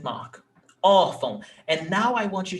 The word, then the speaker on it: órfão: You see that here, órfão, we have 2 syllables, órfão, and the stressed syllable is ó.